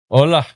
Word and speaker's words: Ola: Hey, her name is pronounced Ola. Ola. Yeah, it's like Russian, kind of like Olga or something like that.